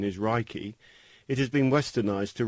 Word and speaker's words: Reiki: Although the proper Japanese pronunciation is Reiki, it has been westernized to Reiki.